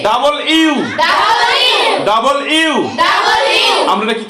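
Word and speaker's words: W: ভি V double U double you. আমরা এটা কি বলি? ডাব্লিউ। কিন্তু কি হবে? Double you.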